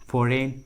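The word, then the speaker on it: foreign: जी का उच्चारण नहीं किया गया है, जी साइलेंट है। देखिए तीनों इंग्लिश वर्ड्स में जी का आवाज़ नहीं आ रहा है, साइन, फोरेन, कोनैक, देखिए सभी इंग्लिश वर्ड्स में जी का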